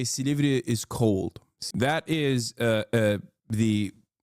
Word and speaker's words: Silivri: He said it wrong. It's not Silivri. It's Silivri.